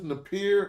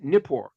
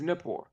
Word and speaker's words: Nippur: will this be was is this Napier or Napor or whatever? yes, Nippur. Yes, this is Nippur, and this is an excavated site at So I Nippur.